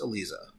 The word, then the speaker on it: Elisa: to my ear yeah I know it's spelled like Eliza but I think it's Elisa Elisa Mazza so anyway that